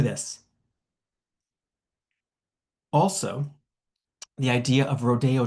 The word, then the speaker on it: Rodeo: Also the idea of Rodeo drive which is pronounced in the Spanish way rodeo and therefore has a chic connotation that insider knowledge the jeans cua that is so very gay.